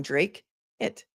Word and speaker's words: Dracut: I'm a bit behind, but it's pronounced Drake. Oh, thank you. I like that. I like that phonetic spelling. Drake it.